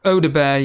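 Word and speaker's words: Odobert: Yeah, it's like, is it Audibert? Is that how you pronounce it? Odebear, yeah.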